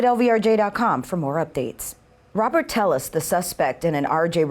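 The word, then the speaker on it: Telles: His family name, pronounced Tellis here along the border, was once synonymous with public service and politics.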